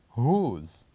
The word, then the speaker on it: whose: on to number four the word is whose whose so what is the silent letter of the word whose the silent letter the letter that we don't say and the word whose is letter also W so here we do